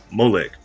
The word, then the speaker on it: Moolec: But you see here, the company is spelled Moolec, Moolec, but it's actually pronounced Molec.